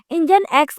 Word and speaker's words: NGINX: what is इंजन x अब जो इंजन एकस है ना उसको प्रोनाउंस किया जाता है इंजन x के नाम से जो कि एक ना